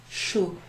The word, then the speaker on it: chou: What does CH together sound like? Remember my name? Ooh. Chou.